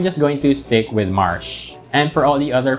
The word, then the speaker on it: Marche: I found this Reddit thread and most folks there pronounce it like the word marsh, which is also how I've always pronounced it. However, somebody linked what seems to be a bizarre TV commercial for this game where the name is pronounced mare.